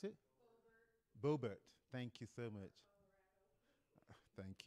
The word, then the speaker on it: Boebert: So, there's a congresswoman, Lauren Boebert, okay? How do you pronounce it? Boebert.